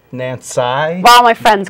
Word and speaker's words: Nanci: was Nancy but right it's actually spelled n-a-n-c-i and and it's pronounced Nancy while my friends call